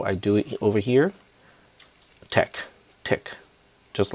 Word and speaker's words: TeX: show math as your Tech command it's not pronounced as Tex it is just Tech I cannot really properly